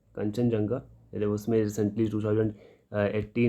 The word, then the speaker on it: कंचनजंगा: Sorry, कंचनजंगा कंचनजंगा, pronounce इसको कंचनजंगा करें, कंचनजंगा biosphere reserve.